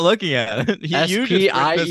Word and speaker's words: Spiel: But he's Spiel. It's Spiel. Oh, Spiel? There's no H there.